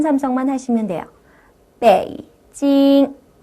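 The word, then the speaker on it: 北京: 한번 따라해 보도록 할까요 배이 발음이고 고 찡 발음이에요 빼이 찡 빼이 찡이 아니고요 내려가 주는은 반 삼성만 하시면 돼요 베이징 자 옆에 발음은 어 메이라는 발음이고 어라는 발음이에요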